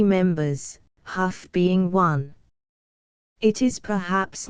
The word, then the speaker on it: Hough: The first class graduated from the Little Iowa High School had 3 members, Hough being one. It is perhaps not out of place to say that he pronounced his surname Huff.